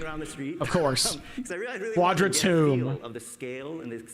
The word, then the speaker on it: Quadratum: It's pronounced Quadratomb. He pronounces Quadratomb, really. Sense of authenticity. And so but I like pronouncing it as Quadratum.